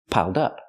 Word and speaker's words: piled up: not piled up but piled up connect the D with the next word dup dup piled up pronounce it like one word it's easier that way piled up is an